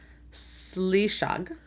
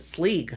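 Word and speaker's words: Sliseag: They pronounce it Sleeg. Which makes it sounds better. Okay, Sleeg. I don't know. But the thing is, S-E, like Sinead, it's a sh sound.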